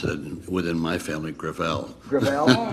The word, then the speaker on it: Gravel: it within my family grael grael it's a French name thank you uh I